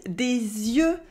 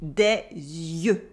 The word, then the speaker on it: yeux: Yes, it is des yeux, It is a completely different word, but you still have the y sound at the beginning, des yeux.